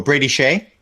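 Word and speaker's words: Skjei: you're gonna have to correct me on the pronunciation you got it right shell oh who Brady Shay Brady Shay sorry Shay sorry from you got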